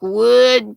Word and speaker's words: WAD: WAD pronunciation is like wood, Tank says.